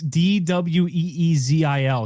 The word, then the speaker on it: Dweezil: Is it spelled like weasel? It's DWEEZIL. He had to put some stank on it.